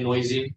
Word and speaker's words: NOEASY: When you're creating a body of work, are you trying to tell one story, like with Noeasy, Noeasy? What's the right way to say it? Oh, you say Noeasy.